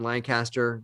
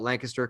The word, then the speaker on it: Lancaster: though you call it you like me call it lancaster because we're from we're from around the area but for for matt and greg they would call it lancaster like say all the syllables but if you're from pennsylvania you just put it into one syllable so it's there are